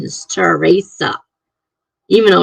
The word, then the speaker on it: Teresa: spelling and pronunciation is terasa even though it's t r Esa it's pronounced terasa Teresa I can't roll the RS like they do but I like that